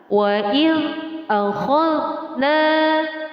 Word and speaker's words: وإذ أخذنا: Wa'il akhadna, wa'il akhadna. Kesalahannya adalah wa'idh akhadna, seperti itu. Jadi yang benar adalah wa'idh akhadna mitsaqakum.